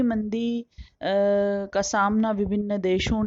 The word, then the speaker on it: Keynes: लिखा हुआ रहता है तो वह गलत उच्चारण है लेकिन वह परिपाटी में आ गया है क्योंकि वह एगी उच्चारण होता है इसलिए वह बींस कहते हैं हिंदी माध्यम वाले लेखक लेकिन न वैसे इनका नाम जॉन मेनार्ड कींस है मैं तो चुप कि